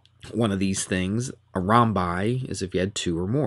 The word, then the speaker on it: rhombi: The title of this is called Rhombi. That's how you pronounce that, rhombi, and squares.